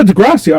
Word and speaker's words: Degrassi: Yeah, Degrassi. I pronounce it.